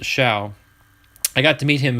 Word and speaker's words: Show: pull eric's card but it is pronounced shao by the way a lot of people say show but it isn't pronounced shao i got to meet